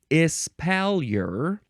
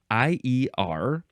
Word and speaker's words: espalier: Next is espalier or espalier. Either one, it is spelled Espalier. Espalier is the American way to say it. Espalier is probably the more proper French pronunciation.